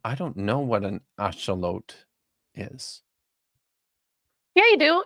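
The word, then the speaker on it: axolotl: It's not pronounced axelottle. Very nice. That is nat. It's a or aote if you want to use the Spanish.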